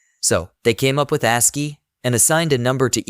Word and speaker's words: ASCII: ASCII is pronounced as ASCII.